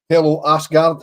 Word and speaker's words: Aasgaard: finger on the pulse, Ascard, I believe is how you pronounce it, you don't see the H according to our Scouse Norwegian correspondent Trev. So, it's Tel Asgard, an attacking midfield player